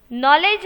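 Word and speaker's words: knowledge: यहां पर वह साइलेंट इंग्लिश लैंग्वेज में कहीं ऐसे वर्ड्स है जिससे कि नॉलेज में नॉलेज हम बोलते हैं न इस पर स्पेलिंग होता है कि लैटर से उनका स्पेलिंग स्टार्ट होता है तो वहां पर के जो है वह साइलेंट ओं मैं सिर्फ 9th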